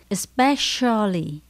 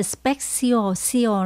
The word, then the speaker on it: especially: các bạn lưu ý Chữ C mình phát âm là chỉ sờ của Sài Gòn nhá especially không phải là speciosa lên các bạn nhá